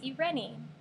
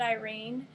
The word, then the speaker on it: Eirene: we got this name from and it is ireni now some people pronounce it Irene but I heard it on Rome pronounced ireni